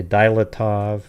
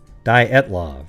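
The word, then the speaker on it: Dyatlov: hard word to say some people say dylatov but i think it's di daitlove right dy it's how it's spelled uh diet love pass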